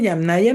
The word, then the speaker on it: Yamnaya: Sí, se dice Yamnaya no me acuerdo cómo se se escribe.